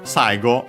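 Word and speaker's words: 最後: Unfortunately there are more than one in this case of the kzi for at so yeah after uh so yeah saigo accented on the first moa uh means uh most after technically uh so yeah it's actually last uh yeah Chinese is compound.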